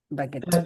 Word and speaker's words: baguette: ஒண்ணு இல்ல, actually பாத்துருக்கோம் சார், but pronounce பண்றதை யோசிக்கிறேன். அந்த the u silent. baguette.